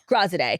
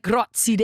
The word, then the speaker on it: Graziadei: How do you say his last name? Graziadei. But it's like Graziadei. I mean, I was going to say Graziadei, so I'm glad that I asked you.